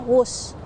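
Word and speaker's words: Whoosh: diresmikan itu diberi nama wus namun penulisan namanya memang bukan wus melainkan w h oo SH yang merupakan kependekan dari waktu hemat operasional optimal dan sistem hebat meski demikian pelafalannya tetap wus yang menurut KBBI berkaitan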